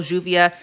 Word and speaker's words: lluvia: But if you hear someone from Argentina or Uruguay pronouncing it llamo, lluvia, that's perfectly fine too.